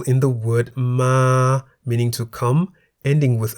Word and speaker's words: มา: For example, ma, meaning to come, and man, meaning it, each has one live syllable that begins with a low-class consonant ma and is therefore in the middle tone.